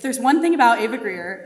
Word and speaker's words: Greer: The only part I found hard was pronouncing the R in Greer when I was little.